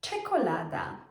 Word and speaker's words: czekolada: Czekolada. So, as you can see, it's a very similar sound to the c h in English language, like in the word chocolate.